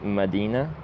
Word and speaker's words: Medina: If if you didn't know, it's pronounced medina.